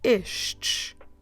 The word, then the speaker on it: estes: guess we have two we have the word ish so we start with the sound ish and we finish finish with the sound ish how do we spell it e s t e s ish and that will be